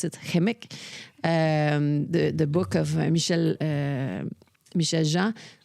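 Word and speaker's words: Kukum: And, you know, like, I'm going to direct another movie, Kimik, you know, like, which is, I'm supposed to pronounce it, Kimik, the book of Michel Jean, which is all the tragedy that Inuits went through.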